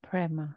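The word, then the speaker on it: prema: meditation Mantra was aham brma aham brma aham spell that brma p r e m a ahma aham prma and I'm going to B the reasoning the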